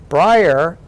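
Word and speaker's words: Bryar: back to Brier Massachusetts which by the way is spelled b r y a r Brier on I take I've always set my books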